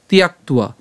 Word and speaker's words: ত্যক্ত্বা: এরপর ফলং তিয়াক্তুয়া। এখন এখানে তিয়াক্তুয়া, এখানে জফলা আছে, এই জফলা উচ্চারণের জন্য আমরা জানি যে ইয়র মতো উচ্চারণ হয়।